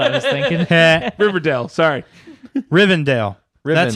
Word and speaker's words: Rivendell: Rivendell. That's how they say it. Rivendell.